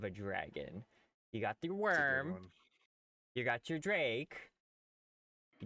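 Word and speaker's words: wyrm: that's oh w-y-r-i-c yeah it's pronounced Worm but it's literally literally like a worm so every time I'm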